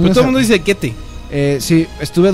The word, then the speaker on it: Goethe: Se pronuncia Goethe, de hecho. Goethe.